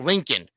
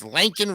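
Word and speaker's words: Laken: of lanol Riley okay it's not Lincoln it's lancol Riley and get it right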